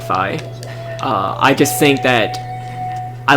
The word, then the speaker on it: Fi: the official pronunciation is Phi y'all can check me on that but I believe the official pronunciation is by like the Greek alphabet so I just learned